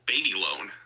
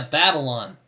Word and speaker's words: Babylon: Yes, a new Jamie Chazelle film is coming out called Baby Loan that I'm really looking forward to. Yeah, Babylon. Yes. The new Damien Chazelle movie. Oh my. That's how it's pronounced.